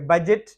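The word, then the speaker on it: budget: यहां पर जो मुल्की बजट पेस किया जाता है सालाना तो ये हो गया यहां पर बजट तो यहां पे ये दी साइलेंट है बजट में यहां पर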